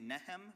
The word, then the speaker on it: Nahom: NM and pronouncing it neem because that's uh how I understand locals tend to pronounce the name in Yemen uh but nonetheless uh